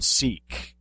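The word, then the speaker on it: Sikh: not s k okay so it's the religion seek um now I've heard it pronounced sick now recently what's your pronunciation on that well uh as far as I know it's seek but uh you know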